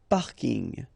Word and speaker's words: parking: So I know it's coming from English, but still you should pronounce it the French way.